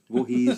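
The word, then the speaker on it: Voorhees: VZ Jason V yeah there's no T why am I pronouncing a t i don't know I think it's cuz my eyes are funny um Jason VES VES sorry VES are J good yeah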